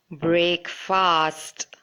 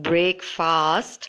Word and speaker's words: breakfast: It should be short, not break fast, but breakfast.